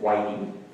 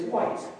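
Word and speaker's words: Whyte: the early service this morning so I will pronounce his name properly it's w-h-y-t-e and no it isn't whitening it's not witty oh Excuse me yes it is white David White is the poet so those of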